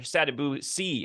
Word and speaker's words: Sadibou Sy: Sadibou Sy. How are you, sir? Did I pronounce that correctly before we start? Yes, sir, you did.